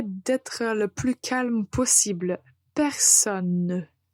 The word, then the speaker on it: personne: du mois essayez d'être le plus calme possible personne personne donc en prononce et en un temps clairement la lettre